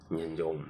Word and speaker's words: Nyanjong: Nyanjong. Yeah, that was the name. Nimetry kuipronounce kimoyomoyo haikuji jamani.